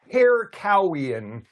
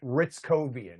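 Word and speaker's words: Hrycowian: Like if you look at it, you would want to say hair cowian, but he pronounces it ritzcoian.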